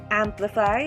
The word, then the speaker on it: amplify: syllable is five amplify the stress is in the first syllable amplify not amplify nor amplify second word astringent the